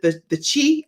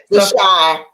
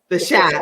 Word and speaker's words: The Chi: recurring guest roles on, is it the Chi or the Cha? How do you say that? The Cha. Okay, the Cha. The Shy. The Shy.